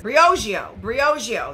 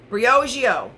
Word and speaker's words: Briogeo: This is Briogeo. That's how you say it. Briogeo.